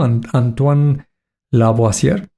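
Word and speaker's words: Antoine Lavoisier: Y fíjate, el un químico Antoan Laboier, que así se pronuncia, 1787 descubre el elemento químico, el el silicio.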